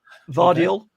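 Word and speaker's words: Gvardiol: okay and uh uh vardial vadio is that you say with the silent G this is I think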